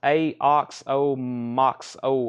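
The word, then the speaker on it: Aoxomoxoa: they were allocated uh it's pronounced a ox o Max oh uh I like saying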